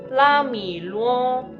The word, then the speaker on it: Lāmǐluō: Se pronuncia la, después mi, y por último luo. O sea que Ramiro en chino se dice la mi luo, ¿sí? La de primera entonación, mi de la tercera entonación y luo de la primera entonación, ¿sí?